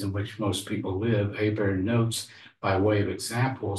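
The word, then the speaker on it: Hiebert: Context, Paul Hébert, and I say his name like a good Cajun would, so Hébert is how we would pronounce it, or Cajun pronounce it.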